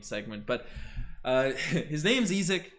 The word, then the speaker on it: Isaac: but uh his name's ezek not isaac bond guys from germany so that's how it's pronounced over there not to blame but